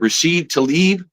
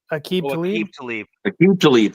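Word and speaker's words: Aqib Talib: Rashid Tlaib, the defensive back. Aqib Tlaib.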